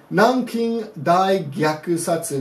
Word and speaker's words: 南京大虐殺: Nanking Dai Gyaku Satsu.